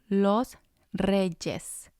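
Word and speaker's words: reyes: El Re El re in singular form the Y sounds like the letter i when it's at the end when we make it plural it will sound a lot like the English Y El re turns into Los Rees Los Rees so we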